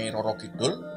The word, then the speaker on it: Nyi Roro Kidul: cerita-cerita mistis yang dikaitkan dengan tapi yang betul pelafalannya Seperti apa apanya Nyi Roro Kidul jadi banyak cara menyebut penguasa laut selatan Itu